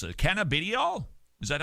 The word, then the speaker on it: cannabidiol: Is the hype about CBD or cannabidiol, how do you pronounce it? Cannabidiol? Is that how you, cannabidiol? It's not oil, it's eol.